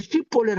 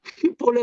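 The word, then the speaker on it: shibboleth: 야 십볼레 우리 길라 사람은 발음을 십볼레를 하는데 이 사람들은 이제 SHI가 발음이 안 돼. SI로 십벌레 그러니까 야 십벌레 발음해봐. 근데 에브라임 사람은 십벌레 하니까 다 죽인 거야.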